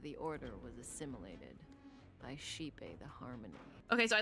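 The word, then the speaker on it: Xipe: harmony this whole time I think I was saying shipei but that's how I was reading it but I didn't know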